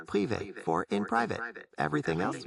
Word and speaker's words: privé: It's pronounced privé, with the emphasis on the end and a slightly longer E sound.